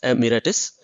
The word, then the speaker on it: emeritus: The word emeritus, pronounced emeritus, is Latin, original meaning veteran soldier.